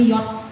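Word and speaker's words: Jacht: Kalau di Jerman J itu bacanya yacht, FS Yacht.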